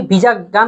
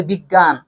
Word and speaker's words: বিজ্ঞান: আমরা কি বিজাগান এরকম বলি, বলি বিজ্ঞান বা বিজ্ঞপ্তি, এরকম ভাবে হয়।